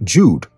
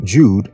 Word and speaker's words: Jude: The J in the German Jude is pronounced exactly like the English Y in yes, youth, and yacht.